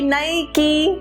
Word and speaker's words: Nike: has to be Nike okay like new key Nike okay that is Nike all right okay I'm